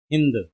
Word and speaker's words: Hind: How did the Persian pronounce the word Sindhu in their language? And correct answer is B. Hind.